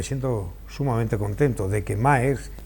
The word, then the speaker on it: Maersk: sumamente contento de que Maersk, que no es marxista, porque cuando lo pronunciamos puede pensar alguien que es marxista, que es comunista, que es filoetarra o que es socialista, ¿no?